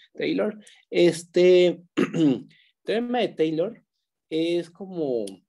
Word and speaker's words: Taylor: Es el teorema de Taylor, se escribe así, Taylor, pero se pronuncia Tay como con una E, Taylor.